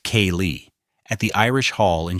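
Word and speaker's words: céilí: parties or a Friday night Sailith, pronounced K-Lee, at the Irish Hall in Charlottetown.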